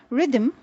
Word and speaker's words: rhythm: is to be found in words like rhyme rhythm rhetoric rhododendron rheumatism rhinoceros and rhodium now rhyme